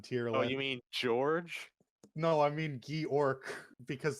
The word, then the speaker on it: Georg: well, it's George, which is it in Japanese like syllables. It's Giorgio or Official Giorgio. English is Georg. Viz and Where does it say Funimation that? agreed Oh, it on does. Oh, what? Georg. Official Georg. English.